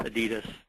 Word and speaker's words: Adidas: The Adidas brand was actually founded by Adolf Adi Dassler. And the correct pronunciation is actually Adidas. But here in the States, we Americanize it. It's changed to Adidas.